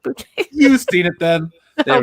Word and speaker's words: Bucket: It's a bouquet. It's pronounced bouquet.